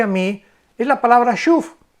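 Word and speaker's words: שׁוּב: La palabra hebrea para arrepentimiento es la palabra S-C-H-W-B grande. Shuf se pronuncia.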